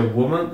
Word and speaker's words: woman: Mas é isso que acontece então aqui se pronuncia woman e aqui se pronuncia o women não me